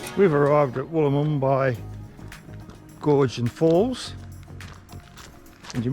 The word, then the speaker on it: Wollomombi: Wollomombi.